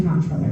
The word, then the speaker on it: comptroller: your next comptroller, and I say comptroller, by the way, I say it how it's spelled because I feel like you don't want to spend 30 seconds explaining what the office is.